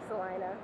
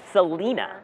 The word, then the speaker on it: Salina: thing she's here huh salinaa Salina you know some people have said Selena I've heard it yeah like Selena Gomez canona canona uh well